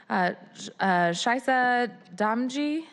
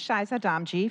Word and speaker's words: Shaisa Damji: I'm sorry about your name pronunciation. Please help me. Right. Followed by Kevin Norris from Parker Smith Feek. And welcome, Councilmember Gonzalez. Thank you for being here and for being a co-sponsor. Of course. Welcome. And please correct my name pronunciation. You are correct.